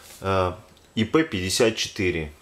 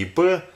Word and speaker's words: IP54: С виду это обычный металлический щит со степенью защиты IP54. Ну, кстати, исправлюсь, а то в прошлом видео все говорил по привычке ИП. Давайте буду говорить правильно, коль вам это как бы слух режет. Там IP54.